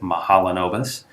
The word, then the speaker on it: Mahalanobis: so people wonder first of all how to pronounce it mahalanobis second of all why it's called that and